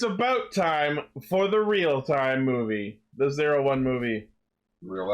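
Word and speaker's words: REAL×TIME: about time for the real-time movie. The 01 movie. Real X time movie. Yeah. Well, you don't pronounce the X, it's like Hunter x Hunter.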